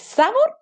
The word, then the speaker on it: sabor: ¿Es sabor o sabor? Sabor. Sílaba tónica, última. Entonces es una palabra aguda.